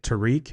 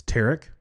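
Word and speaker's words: Tarik: Again, I was I guess I was pronouncing it Tariq and it's TK.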